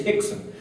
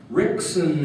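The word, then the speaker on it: Rickson: was so stupid in in Portuguese you don't pronounce the r it's an H right so his name is Hixon but I was so stupid I'm like rickon and Gracie Gracie oh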